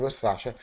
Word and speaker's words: Versace: Lorenzini, Thomas Bessi, Alfredo Versace, Antonio Sementa. Guys, if you are from the United States, the right pronunciation of Alfredo is Alfredo Versace with A, not E.